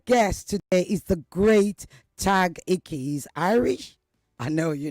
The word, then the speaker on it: Tadhg: tag. Have I pronounced your name properly? Yeah, beautifully.